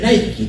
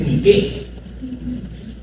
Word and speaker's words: Nike: Es Nike. A ver. Nike, la deidad griega. Las Nike eran diosas de la victoria. Entonces, Nike, ¿no? Solamente que en Estados Unidos le pronuncian Nike, pero en griego es Nike.